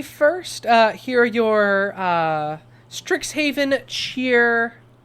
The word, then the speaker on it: Strixhaven: Uh uh on your first like pronunciation of Stricks Haven, you pronounce it Straxshaven.